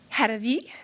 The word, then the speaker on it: Haravi: And we have Faiza Haji Hassan, Fatima, I didn't want to say Harave, but I know how to say Haravi, thank you.